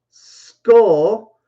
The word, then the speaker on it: skull: say ooh ooh school skull is more of an uh sound skull skull say with me